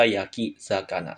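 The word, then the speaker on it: 焼き魚: siqnya dihilangin nantia langsung digabung Yaki zakana dua kanji doang dibaca Yaki zakana tanpa ada hiraganaki ya seperti itu yang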